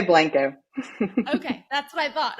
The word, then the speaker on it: Blanco: The locals say Blanco.